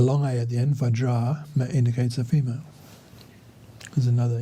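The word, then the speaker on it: Vajrā: This would be pronounced Vajra with a long A at the end, because Vajra with a short A indicates a male. A long A at the end, Vajra, indicates a female.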